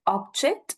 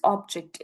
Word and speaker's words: object: I am present right this is the object and this is to object that right we need to understand object will be or will be given a rather more prominence whereas J will be given the lower prominence so that is what